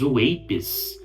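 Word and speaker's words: UAP: Nesse dia 7, uma nova leva de documentos relacionados aos chamados WAPs, é assim que se pronuncia essa sigla, foi disponibilizada ao público.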